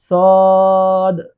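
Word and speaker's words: صاد: আমরা এটাকে সোয়াদ বলি সোয়াদ না সঠিক উচ্চারণ হলো সদ তিন আলিফ টান দিয়ে পড়তে তারপরে আছে দ।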